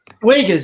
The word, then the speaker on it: Uyghur: There was a special out how they're trying to now all the women in, I can't pronounce is it Uyghur or I can't pronounce Uyghurs, that's it, the Uyghur Muslims.